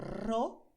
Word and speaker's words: rojo: Tenemos rojo. Primero la lengua, que hace esa vibración, ro. Y luego tenemos pues el sonido de la rojo. Puedes hacer un sonido más fuerte o más suave con la J, ¿vale? Pero son dos sonidos diferentes.